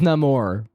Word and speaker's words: Namor: I mean, his actually- name's Namor.